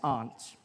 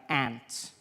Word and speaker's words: aunt: For instance, I pronounce the opposites of uncle as aunt. I say my aunt. Out here, you say my ant, which to me is an insect, which made me look